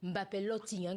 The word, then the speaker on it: Mbappé Lottin: Effectivement Simon, tout avait pourtant bien commencé à Angola pour Kylian Mbappé Lotting, comme on prononce au Cameroun.